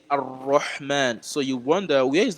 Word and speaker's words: ar-Rahman: So the lam is kind of, merged together and it's not pronounced, separately. So here you're going to say ar-Rahman.